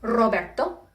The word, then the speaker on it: Roberto: Generally, if you see a capital R at the beginning of a name like Roberto, it's actually pronounced like the double R.